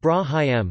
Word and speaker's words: Ibrahim: Ibrahim, pronounced Brahim, known as Abraham in the Hebrew Bible, is recognized as a prophet and messenger in Islam of God.